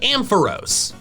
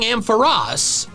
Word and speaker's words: Ampharos: Regardless of the anime though, Ampharos is a much more logical pronunciation, since its name comes from Amp and Pharos, the Greek word for lighthouse.